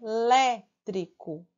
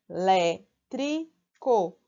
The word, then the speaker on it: elétrico: antepenúltimo então é proparoxítona é elétrico então quando a gente separa em sílabas fica é elétrico olé é a antepenúltima Então ela é o